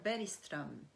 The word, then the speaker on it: Bergström: Et vraiment à la suédoise, ça devrait dire Bergström. parce que le G est un G doux qui se prononce comme un I.